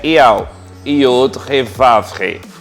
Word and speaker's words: Yahweh: A pronúncia desse símbolo é Yahweh, Yod He Vav He, o tetragrama, YHWH.